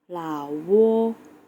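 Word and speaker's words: 老挝: บ้าน ของ เรา นั่น เอง นั้น ก็ คือ เหล่า โว้ ลา โว้ คือ ประเทศ เก่ง มาก ค่ะ คือ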